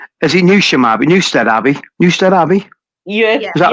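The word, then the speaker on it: Newstead Abbey: I'm going to get this name wrong because I always get the name wrong. Is it new? Newstead Abby. Newstead Abby.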